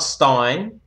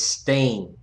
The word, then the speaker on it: Portstein: It's not Stein, it's Steen, because he's Polish.